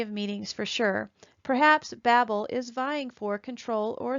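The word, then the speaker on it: בבל: so let's get started Babylon is three Hebrew letters Beit Beit Lahm ed and is pronounced Babel in the ancient pictograph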